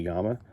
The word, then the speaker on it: Yama: They're marching off to go after it, and it's pronounced like, the word llama, but it's technically Yama. So General Yamamoto, clever, very clever.